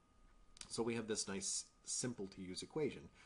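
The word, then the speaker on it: ν: It's represented by the Greek letter ni. Now, I know that looks like it says nu, but I have it on good authority from several native Greek speakers that that is actually pronounced ni.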